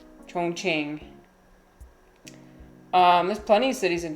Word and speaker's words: Chongqing: I'm saying it correctly, and yeah, that is kind of what people say. But this is exactly how you're supposed to pronounce it, Chongqing.